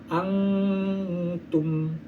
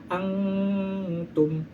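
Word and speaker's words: أنتم: dengan huruf yang 15 maka dibacanya samarsamar bacanya disamarkan seperti ini contohnya angtum Antum di mana ada Nun bertemu dengan ta nun mati bertemu dengan ta kita baca samar contohnya angtum nah seperti itu lalu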